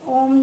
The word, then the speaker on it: ओम: विशेष ध्वनियों के कारण जब हम ओम का उच्चारण लंबे स्वर में करते हैं, आ से जैसे ही प्रारंभ करते हैं, लंबा करते करते स्वतः ही हमें ऊ की ध्वनि सुनाई देती है और समापन पे माँ